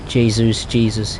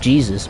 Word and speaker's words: Jesus: Jesus. Yeah. I mean, when he first came to the Premiership, I thought he was called Jesus, not Jesus, as his actual name is pronounced.